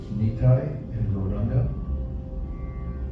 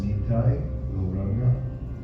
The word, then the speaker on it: Nitai Gauranga: And now I'll say the mantra of the two avatars Niti and Boranga who awaken compassion within the heart. It's pronounced Nitai Loranga.